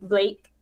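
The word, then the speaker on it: BLVKE: your cousin how did how do you pronounce his name b-l-v-k-e um blake blake oh okay i was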